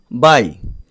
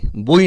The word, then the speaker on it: buy: তারপর দেখো বাই, BUY, বাই, বই নয় কিন্তু বাই, এটিও একটি ভার্ব, এর অর্থ হচ্ছে কেনা।